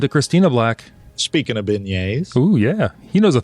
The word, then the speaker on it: beignets: Brian Cern says beignets. See, I pronounced it correctly.